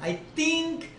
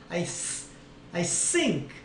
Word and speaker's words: think: 그러니까 더블 D급 발음 D D. 쓰랑 뜨랑 완전 달라요. I think. I sink.